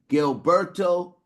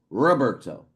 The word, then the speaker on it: Gilberto: Gilberto, right? I want to uh apologize to you cuz earlier I mispronounced your name, right? I mispronounced your first name. I think I called you Roberto, right?